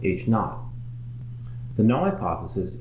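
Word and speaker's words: H₀: the status quo it's usually labeled h0 pronounced H naught the null hypothesis H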